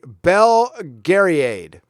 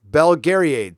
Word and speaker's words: Belgariad: ] boomer okay boomer it's pronounced okay Bell Gary aid belgariad thank you thank you Thea